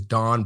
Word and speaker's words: Dan: introduce yourself who is Don uh so my name is Don it's spelled Dan pronounced Don it's a Hebrew name I moved to the